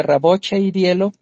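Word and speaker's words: Рабочее дело: Eh, eso es lo que dijeron eh los este los de Raboch y Dielo, creo que se pronuncia Raboche y Dielo, eh están diciendo que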